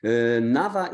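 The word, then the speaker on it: NAWA: academic exchange the Nava W would be pronounced like V in in our case Nava is important for two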